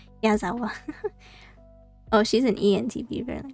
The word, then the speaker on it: Yazawa: Nico Yawazawa. Yazawa.